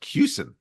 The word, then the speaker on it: Kussin: a collegial way so my name is pronounced cusin oh goodness so it